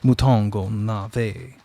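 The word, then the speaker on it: mouton aux navets: "Pronounced, if you please, mouton au navet."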